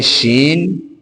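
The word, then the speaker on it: شِ: ये है शीन।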